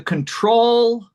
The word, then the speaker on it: control: In fact, the first O is probably a level 0. Mm. Or maybe it's a schwa.